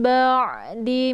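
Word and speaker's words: بَعْدِ: Ba di sini ada ain ya, ain sukun. Ain adalah sifatnya tawasud. Jadi antara dibaca ditekan dan ditahan. Jadi kalau ain ini sukun maka dialirkan setengah saja. Ba'di, jangan ba'di ya. Karena bukan hamzah tapi ain ba ya sifatnya lunak.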